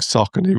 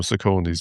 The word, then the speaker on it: Saucony: yeah, I think Saucony was again, I only learned that as well. I used to call them Sauconys, but yeah, Yeah, no, Saucony. But yes, I don't use anything else. It's just Sauconys.